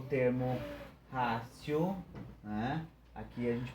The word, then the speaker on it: ratio: Esse T procura, né, pronunciar com uma mistura de T e C, né?